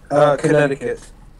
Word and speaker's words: Connecticut: Connecticut. How about you? This is California right here. Please pronounce the C. Connecticut.